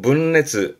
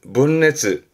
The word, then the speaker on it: 分裂: 발음은 문레츠, 문레츠.